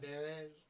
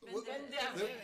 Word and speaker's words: Banderas: You roll your R a little bit. You roll it. He's Spanish.